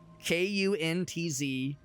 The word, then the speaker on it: Kuntz: Now, I have to be careful about how I pronounce this guy's last name, because it's not pronounced how you think it is. His name is Russell. I think he was a professional baseball player. His name is Russell, and his last name is K-U-N-T-Z, and I am not exaggerating. K-U-N-T-Z. First name Russell, he went by Rusty. Pretty sure it's Kuntz. Pretty sure it's pronounced Kuntz.